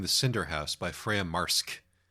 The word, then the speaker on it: Wilde: I believe I said Wilde-ski when we did the last book that we did by this author, which is at least according to the way the audiobook narrator pronounced it, not correct.